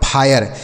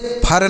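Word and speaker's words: fire: जैसे एफ आई आर ई एफ से हो गया फ इस आई का उच्चारण आय हो गया आर ई से र ये लिखा गया आपका फायर इसे फर नहीं पढ़ना है ना तो फिरे पढ़ना है फायर पढ़ना है क्या पढ़ना है फायर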